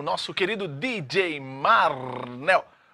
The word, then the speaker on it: Marnel: É Marnel, a pronúncia correta seria Marnel.